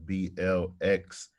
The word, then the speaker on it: Blxst: Yep, you can follow me on all social media platforms at BLXST. My name is pronounced Blxst. It's with an X instead of an A.